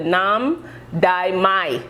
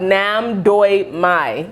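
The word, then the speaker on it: Nam Doc Mai: We have the Fairchild mango and we have the Nam Dai Mai. I think it's not pronounced that way. Don't judge me, please. It's actually called Nam Doi Mai, which I was pretty close, right?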